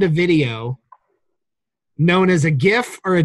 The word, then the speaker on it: GIF: video known as a gif or a jiff I was there a hard G sound in there that I heard okay just like the word graphic like the first word and gift that's right okay that's right